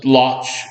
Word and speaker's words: Łódź: The largest group of Volhynian German settlers do come from Congress Poland and the area around Łódź, as it's known today in Poland. The Lodz, the German pronunciation.